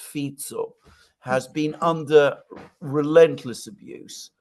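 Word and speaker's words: Fico: Fe to give it's written F but it's pronounced fito has been under Relentless abuse from also all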